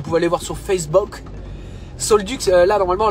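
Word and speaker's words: Saulx-le-Duc: Solduc, là normalement la commune de Solduc, ça s'écrit S-A-U-L-X, plus loin le, plus loin Duc.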